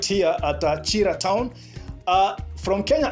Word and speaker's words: Kira: journey right here at Chira town uh from Kenya I can call it Kira you know k-i-r-a I can pronounce it Kira but it is Chira town all right so that